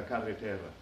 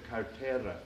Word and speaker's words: carretera: first struggling with Spanish I often mispronounced this word and accidentally said cartera instead of carreter which means wallet or purse here in Puerto Rico